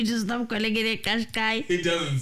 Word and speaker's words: Qashqai: Listen, Nissan Kashkai. Kashkai Nissan China. Here are many more videos on how to pronounce all. That sounds like a Chinese manashkai. In South Africa, it's a Qashqai.